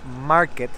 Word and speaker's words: Markt: le decíamos plaza marc ya aprendimos que no se dice marc es la plaza market porque antes todo esto